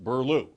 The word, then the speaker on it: Buehler: Yes, and it's pronounced Burlew.